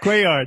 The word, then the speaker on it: Cuellar: Cuellar. How do you say it? Cuellar, no problem.